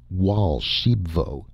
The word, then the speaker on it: Archambaud: my golden goose and raoul archambaud pronounced wall shebvo interrupted excitedly i showed